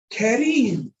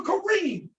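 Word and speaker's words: كريم: Kareem, Kareem, Kareem, Kareem, Kareem, right? But he said that R in Kareem, Kareem, that's muraqqaqa, that's pronounced soft because of the kasra.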